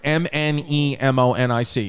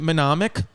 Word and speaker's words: mnemonic: survival menomic how do you say that word m-n-e-m-o-n-i-c is it menomic menomic mnemonic mnemonic mnemonic mnemonic yeah the yeah